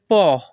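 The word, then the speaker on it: po': এখানে পিও এর উচ্চারণ হবে পহ।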